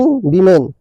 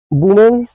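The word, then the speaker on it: women: Working वुमेन rely on baby seaters. Dear friends working वुमेन rely on baby seaters. अब यहां वुमेन पढ़ते हैं। लेकिन ये करेक्ट प्रोनाउंसिएशन है वीमेन। है ना? वीमेन।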